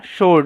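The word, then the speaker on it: sword: শারপ মানে তীঘন সোলড এটার উচ্চারণটা সোলড মানে তরোয়ারি বা তলোয়ার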